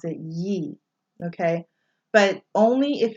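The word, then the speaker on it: 不: So like for example, if it's after B, after bo, it's pronounced bu. So like the word for not is bu.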